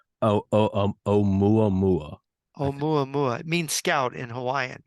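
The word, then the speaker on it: ʻOumuamua: Can you say o mua mua mua mua?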